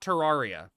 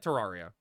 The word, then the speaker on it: Terraria: It looked like Terraria. Now say Terraria. Is it Terraria, not Terraria? Oh, am I saying it wrong? Huh? Well, I say Terraria, you know, lime, I